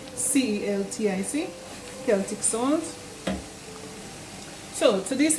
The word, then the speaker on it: Celtic: Some people say Celtic which is spelled C E L T I C.